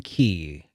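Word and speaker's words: chi: like that union union key because the the cross is actually it's pronounced key because oh okay it's the the uh the greek alphabet yeah yeah it's okay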